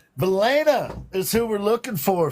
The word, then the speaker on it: Valaina: Valaina is who we're looking for, folks. Valaina. Elena. Yeah. Did And you just say Valania?